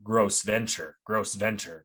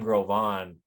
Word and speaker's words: Gros Ventre: ignorant white lady, and she kept calling the Grove on gross venture, because that's how it's spelled, right? Oh, And he like was like, hey, like, I'm Grove on, that's how you say it, like it's because of the French, you know, coming over and like naming us that.